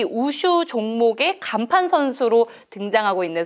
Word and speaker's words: 우슈: 진짜 은퇴라고 생각하면은 저도 모르게 자꾸 눈물이 나고 제가 마음은 아직 준비가 안 돼가지고 우슈가 저희 인생이기 때문에 우슬의 중국식 발음인 우슈.